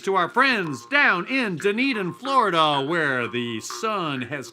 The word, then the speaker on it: Dunedin: Now, here's one from our friends all the way from Dunedin, Florida. Pronounced done eating, but not done drinking.